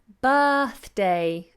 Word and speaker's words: birthday: yeah then we have birthday again we have that flat our sound birthday not birthday or bird a birthday boy such tricky